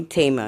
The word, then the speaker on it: Taima: Tisha, or if you'd like to call me Tama, because that's the way it should be pronounced.